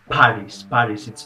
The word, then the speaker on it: PVRIS: She's from the band Paris. It's spelled as PVRIS, PVRIS, and Lynn Gunn is a really good vocalist.